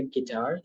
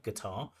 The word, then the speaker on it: guitar: I learned to play the guitar from him, and it was probably back in And guitar. The stress should be on the second syllable, right? Guitar, guitar, guitar.